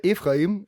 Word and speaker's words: Ephraim: Yeah, I want to spell it because everybody is pronounce it a little bit wrong. It's Ephraim.